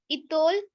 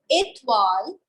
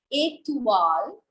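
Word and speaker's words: étoile: Oh, Itol, elephant. Okay. The correct pronunciation is Etwal, Etwal, and elephant.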